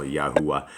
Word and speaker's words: Yahuwah: But that's closer than God, and that's how you would pronounce it as well, Yahuwah.